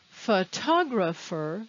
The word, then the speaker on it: photographer: Photographer and photographs. They sound different. In photographer, the stress is on the ta. In photographs, the stress is on the fo.